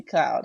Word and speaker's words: Cloude: and and it's pronounced Cloud right Chelsea cloud cloud in the sky yes okay yeah I